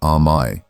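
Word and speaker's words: 甘え: The concept is called amay pronounced a and it comes from the Japanese verb amayeru which roughly translates to to depend and presume upon another's love.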